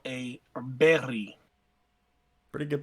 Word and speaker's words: Berg: new the first time somebody put a a Berg in my hands I'm sorry it's technically called a berry pretty good pronunciation that's annoying yeah somebody brought it up